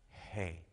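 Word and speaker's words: ה: hay is amazing because it's not a guttural sound it's it's it's pronounced not with the lips it is pronounced just with breath hey and so there's a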